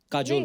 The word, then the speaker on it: Kajol: काजल है ना, but काजल होता है, काजोल हाँ, but मतलब बंगाली में spelling है, काजल। बंगाली में ऐसे बंगाली में लिखते हैं। ऐसे उसका प्रोनाउंसिएशन है पर बड़ा अच्छा लगता है काजोल।